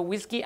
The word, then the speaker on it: WSGI: um flask is a whiskey application um wsgi which I've also heard pronounce whiskey but then I didn't